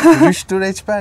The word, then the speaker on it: Rüştü Reçber: Rüştü Reçber, yes.